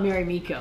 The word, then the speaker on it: Marimekko: inspired by mirameko and or some people call it mary miko but mirameko is what i i think is pronounced and inside you're going